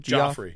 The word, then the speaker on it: Gioffre: No, it's Joffre. Gioffre, _ sorry. Builds. Jeffrey Joffrey? Joffre. Yeah, you Joffre. got it right. Okay. Yeah, Joffre. Spelled like sounds like it's spelled actually.